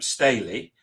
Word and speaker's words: Staley: Sarah um Staley. Have I pronounced that right?